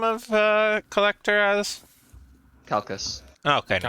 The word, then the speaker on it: Calchas: Calcus. Okay, no, Calcus, okay, we're good. I also have that written down. Yeah. I have it Calchas, but I put in my little parentheses Calcus, like Callkhas for pronunciation.